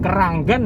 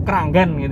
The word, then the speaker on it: Kranggan: jualnya sayur-sayur segini Tapi bacanya jangan Kranggan ya harus Kranggan jadi memang dulu tuh